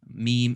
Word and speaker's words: م: good next one is meme two lips good the last letter